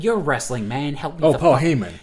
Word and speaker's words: Paul Heyman: Paul Heyman. Heyman. Heymon. Replace the R with the H.